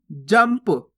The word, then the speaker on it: जंप: अगर पा आएगा, फा आएगा, बा आएगा, भा आएगा, तो वहां पे आधा माँ का उच्चारण कर देंगे अपन, यानी कि इसको कैसे पढ़ेंगे? जंप। जनप नहीं पढ़ना, जंप।